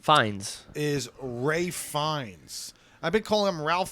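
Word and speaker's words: Ralph Fiennes: you call him Bild defo I didn't know Ralph fenes his name fines is Ray fines I've been calling him Ralph fenes for years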